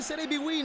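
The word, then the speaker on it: Serie BWIN: Win tutti i colori della passione si legge Serie B Win Ma è un vero e proprio antipasto di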